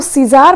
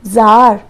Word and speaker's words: Czar: अब हम इसको सीजार पढ़ें क्या? नो, ये है जार। सी यहाँ पर साइलेंट रहता है, हम इसे जार बोलेंगे।